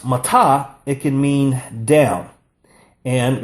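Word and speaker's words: מַטָּה: When it's pronounced matah, it can mean down.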